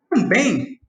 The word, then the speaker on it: também: Mas quando a gente fala também, agora nós temos duas sílabas e a sílaba tônica é o bem. Então, como termina com em, tem acento.